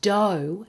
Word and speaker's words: dough: And dough has the double vowel o, which of course rhymes with no.